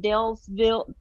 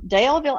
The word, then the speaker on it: Daleville: and robert is from dalesville dale is it with an s is it daleville or dale's it's a singular dale yes i think i was saying it wrong daleville alabama which if i